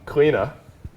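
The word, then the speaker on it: Cliodhna: don't have to do a full god breakdown cleena how i've been told we actually pronounce it um has been nothing short of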